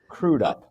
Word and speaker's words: Crudup: Is it three options are crudeup crudup or some people pronounce it face family and I have always pronounced crudeup.